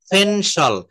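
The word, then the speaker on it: pen: তো এই ফটাকে বলা হচ্ছে ফেনসল, ফেনসল। তারপর পেন, আমরা প্রতিনিয়ত সবার হাতের কাছে এখন পেন রয়েছে, তো এটা পেন বলবো না, এটা হচ্ছে ফেন, ফেন।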